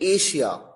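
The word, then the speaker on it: Asia: Passion, pressure, अच्छा, अब देखिए एशिया, एशिया में तो एस के बाद एच आया ही नहीं, न ही डबल एस है, लेकिन उसके बावजूद इसका प्रोनाउंसिएशन है शलगम वाला श।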